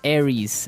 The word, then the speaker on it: Aries: Greek mythology that's right and uh so it's pronounced Aries Aries a r i e s Aries that's